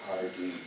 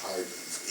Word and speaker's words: Hardee: And notice that one of those corps commanders is Hardee, which is the way he pronounced his name, which is the way everybody else ought to pronounce that name.